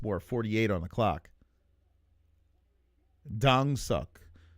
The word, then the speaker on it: Kongsuk: Dang suck. That's the proper pronunciation.